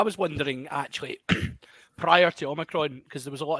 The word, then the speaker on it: omicron: our good friend uh oh micron i believe is the the greek pronunciation because it's based on that so um but uh yeah you've got to pronounce like transformer john that's it's omicron you can kind of